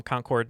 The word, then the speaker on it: Concord: Our first guest is coming to us from Concord, New Hampshire.